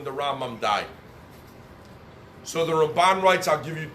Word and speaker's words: Ramban: When you pronounce Ramban, you stress the nun at the end, Ramban.